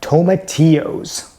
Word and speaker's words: tomatillo: You say tomato, I say tomatillo. Welcome to another episode of I Want to Cook. Today I'm going to be telling you a little bit about tomatillos.